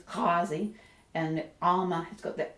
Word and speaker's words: Ghawazi: like the fleet ah it's like in the back of the throat it's not a G I will attempt to pronounce these words quickly but you'll probably find I slip into what most people say from time to time so it's not gwazi it's Kazi and um I've got